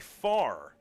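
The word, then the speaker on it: Pfarr: We've got Kelby Farr, and I'm assuming that the P is silent. P-F-A-R-R. I'm just assuming.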